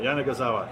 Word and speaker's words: Yanagisawa: we can go and I think it's five syllables AWA I think they got it I think we got it now Jana gazawa thank you very much